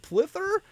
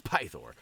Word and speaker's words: Pythor: guy's name correctly but no pythor I guess is what it is there's no L in there Brian it's pythor and all right we'll use